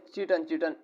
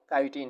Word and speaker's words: काइटिन: ये बना होता है काइटिन से। बस स्टूडेंट इसे चिटन वगैरह कहते हैं, लेकिन इसकी सही प्रोनाउंसिएशन वो काइटिन है।